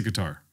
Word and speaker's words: Qatar: uh it's a cutter right it should be cutter I think it's like yeah in Arabic it's cutter yeah yeah but I say guitar you say guitar guitar yeah it's pronounced cutter